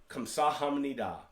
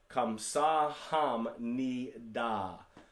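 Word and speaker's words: 감사합니다: thank you in korean kamsahamnida so i broke it out again in parts i didn't phonetically spell this one out kamsa ham ni da kamsahamnida and that is how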